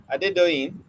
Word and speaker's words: Adedoyin: So um Adedoyin, Adedoyin, it is four syllables.